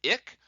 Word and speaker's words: AIC: For what it's worth, the usual metric that we sort models by is either the AIC, which is pronounced ick, or the BIC, which is pronounced bic.